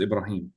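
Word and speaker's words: Ibrahim: the person's name in in Arabic his name is ibraim but in English his name is Abraham that's that's not a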